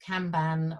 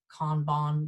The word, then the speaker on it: kanban: that format there are things called kanban or kanban depending on who pronounces it um which are again